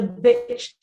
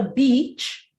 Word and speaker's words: bitch: Number 1 says, that word is a bitch to spell. Not a beach, but a bitch.